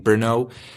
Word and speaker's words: Brno: Brno? How's it pronounced?